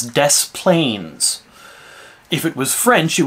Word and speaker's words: Des Plaines: letters in the word i live in a place in chicago in illinois chicago adjacent called this planes they pronounce it here as des plaines if it was french